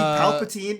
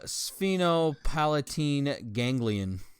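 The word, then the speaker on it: sphenopalatine ganglion: got you super confidence I see Palpatine no that doesn't say Palpatine you close enough uh spheno Palatine gangan yeah whatever the [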